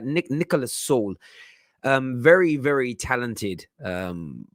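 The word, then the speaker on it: Süle: i think he said they pronounced saul right nick nicholas saul um very very talented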